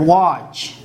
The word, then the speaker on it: watch: we have the word watch or we have the word catch so watch and catch these two words you see that t is used before ch that time it's not pronounced ch c it